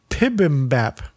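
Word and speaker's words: bibimbap: this dish of mixed rice and vegetables is pronounced more like pibm Bap but 40 years ago when American culture started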